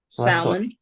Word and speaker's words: salmon: is not pronounced okay so usually when we have words and in the middle we have l and m l often is not pronounced for example how do